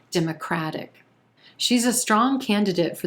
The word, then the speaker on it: Democrat: We've got 3 syllables here, emphasis on that first syllable and the E as in red vowel sound. Democrat. Then we've got a schwa in that second syllable and a very quick third syllable as well.